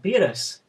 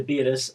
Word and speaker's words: Beerus: He's meant to be translated as Bills because his name was supposed to rhyme with virus.